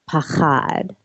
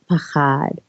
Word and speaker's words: pachad: One of the words is pachad, and it's, for people who are curious, the transliteration is spelled P-A-C-H-A-D.